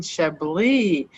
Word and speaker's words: Chablis: Today we are drinking Chablis, William Fevre.